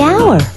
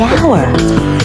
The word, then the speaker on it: hour: The hour. Wait! H is not a vowel sound. It's a consonant sound. But it's not the first sound. The H is silent. The hour.